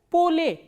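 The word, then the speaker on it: поле: Same way, when we talk about ye sound, ye is reduced to a, like in the word p, o, l, ye. How will you read this word? Pole. Pole.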